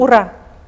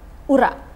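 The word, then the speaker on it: Ура: So how we pronounce it, the right pronunciation, I mean... Ura. Ura. Ura.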